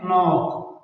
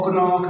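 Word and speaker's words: knock: यहां पर भी एन से पहले के आया हुआ है। तो ये के साइलेंट यानी खामोश है। इसको नहीं पढ़ेंगे। इसको कनोक नहीं पड़ेंगे।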